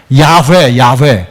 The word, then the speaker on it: 야훼: 야훼. 원래 발음대로 하면 야훼가 더 가깝대요. 저도 그냥 신학교에서 다 공부하는 건데 원래 야훼가 가까운데 우리는 여호와.